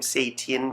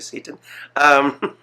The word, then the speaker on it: Setian: It's most especially the last name Setian, because I don't want to call you Satan. It's Setian. Okay.